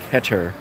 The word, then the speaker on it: Keter: This, I don't know, is this the Keter one? This is the the deck box. Yeah, the I'm sorry, Keter. I always get corrected by my friends from Israel, where Keter is made. It's actually pronounced Keter.